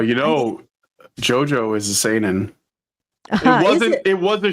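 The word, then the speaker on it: seinen: Brian senin s San it's pronounced San San s e i NE n this kind of sorrowful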